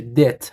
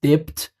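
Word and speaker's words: debt: بدهی رو پرداخت بکنه نکته دیگه کلمه دب د تلفظش اینطور هستا بی کلاً خوانده نمیشه دت هست دپت نیست شرکت تعهدنامه برای رعایت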